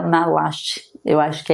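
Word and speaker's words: Maslach: Me perdoem se tiver errado, mas parece que pronuncia malaste.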